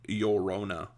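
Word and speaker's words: Llorona: the name you say Laona like this Laona uh in Spanish pronunciation um the L's the double L's in Spanish is pronounced like a y and in English it sounds like yorona I didn't know that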